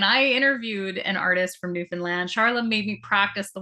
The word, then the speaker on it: Newfoundland: There's an artist I'm from Newfoundland, which is an island off of the east coast of Canada, which is fairly unknown even by Canadians.